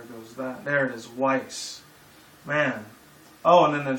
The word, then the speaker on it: Weiss: No, actually, no, it's not Whis. It's Weiss. That's who it is. Okay. Roses, yada, yada, yada. There goes that. There it is, Weiss.